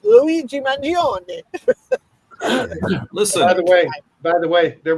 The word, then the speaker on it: Mangione: Correct pronunciation of the name, and so it's Luigi Mangione.